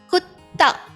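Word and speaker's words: कुत्ता: So when you extend the line on the ta, it becomes ta. Yes, the double ta effect comes. Okay? Kutta is dog.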